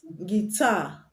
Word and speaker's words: guitar: Guitar. Guitar. The U is also silent. So it's not guitar, but guitar. Not guitar, but guitar. So the U is silent.